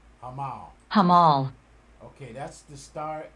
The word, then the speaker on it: Hamal: to approach this okay let's get the proper pronunciation hamal hamal hamal okay that's the star it's approaching